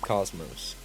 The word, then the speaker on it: Космос: IS Космос, pronounced cosmos.